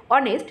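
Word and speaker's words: honest: যখনই আমরা উচ্চারণ করব অনেস্ট তখন কিন্তু এইচ এর যে উচ্চারণ এটা কিন্তু সাইলেন্ট থাকবে এটাকে কিন্তু আমরা উচ্চারণ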